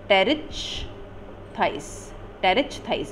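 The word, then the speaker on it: Pterichthys: Then sixth order है एन टी आर्काए, जिसका example है बॉथ्रियोलेपिस एंड टेरिच थाइस। अगेन इसमें पी साइलेंट है, पी टी ई आर आई सी एच टी एच वाई एस।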